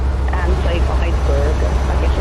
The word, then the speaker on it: Eissberg: Yeah, well, we've discovered a make called Iceberg, but it's spelled EISSBERG. And so Iceberg, I guess it's German or Belgian or something like that.